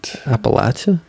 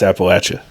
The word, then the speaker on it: Appalachia: and like Appalachia but Appalachia that's how you say it it's like you threw an Apple at you I Appalachia I think